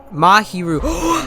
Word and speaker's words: Mahiru: right muhar ru's death I keep saying maharu it's muhu mahiru I said it guys I said it right mahiru's death oh let's